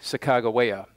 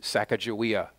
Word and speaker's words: Sacagawea: one of them named sakagawea and you may know heres Sacagawea that pronunciation goes both ways and I might say